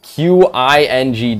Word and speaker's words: Qing: part of, like, the Qing Dynasty? It was Qing Dynasty? Or King Dynasty? I'm not sure how to say it. It's Qing Dynasty.